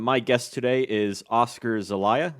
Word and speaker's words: Zelaya: My guest today is Oscar Zelaya. Is that pronounced right? Zelaya? That's right.